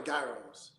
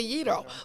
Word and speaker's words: gyro: you said it's a gyro, but it's okay because you're so shy. How many pennies? What's the right way to say it? A gyro. Is it gyro? No, gyro with the Y, like gyro.